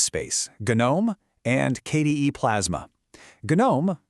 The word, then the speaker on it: GNOME: GNOME, and yes the G is pronounced on purpose, takes a vastly different design approach.